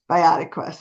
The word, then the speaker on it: BioQuest: But the good thing is that you have this product, a product line called BioQuest. Is that how it's pronounced? Biotic Quest. BioQuest.